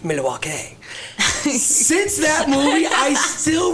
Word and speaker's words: Milwaukee: but they go in there and they say Milwaukee and they give that little spiel about Milwaukee yeah excuse me and uh Alex Cooper goes well actually it's pronounced Milwaukee since that movie I still refer to Milwaukee